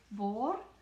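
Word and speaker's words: bord: as well next page boar again we don't pronounce the d on the end board is table board table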